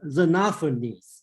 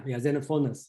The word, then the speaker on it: Xenophanes: Yeah, I think the person is Xenophanes. Okay, he criticized Homer's, and he talked about Xenophon. Yeah, Xenophanes.